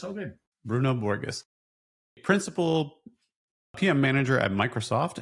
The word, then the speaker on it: Bruno Borges: Today, we're talking to Bruno Borges. Did I say that right? Yeah, you did say it right. It's all good. Bruno Borges, principal PM manager at Microsoft and 24 years